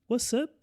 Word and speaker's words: What's up: A pronúncia do S não puxa pro som do Z, certo? Porque a gente não está falando WhatsApp, a gente tá pronunciando com som de 2 S. What's up?